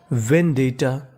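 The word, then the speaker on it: vendetta: डी E double T ए आपको गौर करना है कि यहां पे टी दो बार लिखा है। हमें खाली उच्चारण एक बार करना है। यानी कहने का मतलब टी दो बार है। पढ़ना खाली एक बार है।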